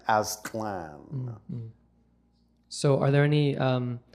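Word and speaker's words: Aztlan: but we know that the actual name in its ancient form was simply pronounced Aslan a z t l n Aslan so are there any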